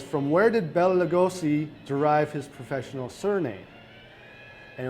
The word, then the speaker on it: Lugos: And it says, from where did Bela Lugosi derive his professional surname? And it was actually, how do you pronounce that?